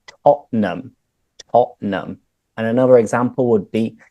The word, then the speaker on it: Tottenham: Is it Tottenham? It's like, almost. You could say Spurs, of course, but no, we say Tottenham.